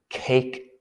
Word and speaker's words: KAK: we can call the cake test yeah the k a k test you could pronounce it cac test but that's less exciting but the cake test with a long a k a k is